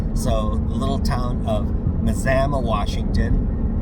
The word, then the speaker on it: Mazama: Mazama is the last town in Washington before the northern terminus at Hart's Pass. So the little town of Mazama, Washington is pronounced like you would Alabama.